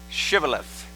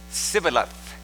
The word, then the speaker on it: Shibboleth: take a simple test pronounce the word Shibboleth but the Ephraimites could not pronounce it correctly instead said civil of thus their accent gave